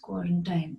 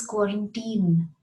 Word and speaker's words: quarantine: Everyone will say quarantine. It isn't quarantine, it is quarantine. Quarantine.